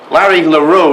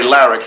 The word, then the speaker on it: LaRue: He presents a drum crafted by Larry LaRue is probably the correct pronunciation, but since he always referred to himself as Larry Larrix, that's what I'm going to call him.